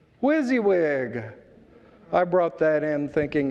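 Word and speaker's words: WYSIWYG: back as the 1940s its acronym w-y-s-i-w-y-g is pronounced wizzy wig whizzy wig i brought that in thinking of my good friend don belter who likes a good acronym wizzy wig now that's memorable you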